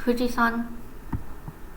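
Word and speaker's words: 富士山: but it's not like quite like an F either. It's like a in between almost. Huh. So Fujisan. If I'm pronouncing it correctly. I think I'm pronouncing it correctly, but I don't know. But it's not like who. It's more like who.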